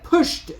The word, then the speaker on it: PUSHD: we're going over the pushed token now this is spelled pushed with no e it is p h d uh that is the